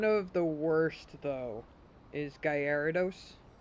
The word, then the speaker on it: Gyarados: One of the worst, though, is Gyarados. People who say Gyarados. It's not friggin' Gyarados. It's Gyarados.